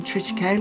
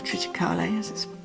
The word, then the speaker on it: triticale: cereals I'm interested in triticale or triticale some people pronounce it and it's the one